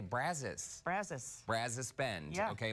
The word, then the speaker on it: Brazos: but I so spend I didn't realize that in Texas we say Brazos Brazos Brazos Bend yeah